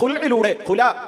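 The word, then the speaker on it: خلع: ഒരു സ്ത്രീയെ സംബന്ധിച്ചിടത്തോളം കോടതി ഇടപെടാതെ തന്നെ പുരുഷൻ ഒരു സ്ത്രീയെ മൊഴി ചൊല്ലുന്നത് പോലെ സ്ത്രീക്ക് ഹുൽഇലൂടെ, ഹുല എന്നൊക്കെയാണ് കോടതി ഭാഷ്യങ്ങൾ, അറബി ഉച്ചാരണത്തിന്റെ ആ പ്രത്യേകത കൊണ്ടാണ് നമ്മൾ ഹുൽഇ എന്ന് കൃത്യമായി അതിനെ ഉച്ചരിക്കുന്നത്. അപ്പൊ കുല എന്നൊക്കെ കോടതി പറയുന്ന ഈ ഒരു ബന്ധം വേർപിരിയലിന്റെ കാര്യത്തിൽ കോടതിയിലുണ്ടായ വിധി എന്താണ്?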